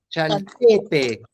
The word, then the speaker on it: Xaltepec: Shal, S-H, Shalte, Chaltepec. Muy bien, Chalte. Ahí es donde se pronuncia más fuerte.